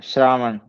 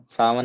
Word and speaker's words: श्रावण: है आषाढ होता है श्रावण सावन नहीं होता य श्रावण भाद्रपद आश्विन कार्तिक मार्ग